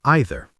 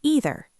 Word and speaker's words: either: Some people pronounce either as either. Some say either. Both are correct in English.